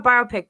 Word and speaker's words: biopic: say biopic biopic biopic I call a biopic because it's a pick that is a biography a biopic okay so this article in battery 2 is about a biopic that the seat now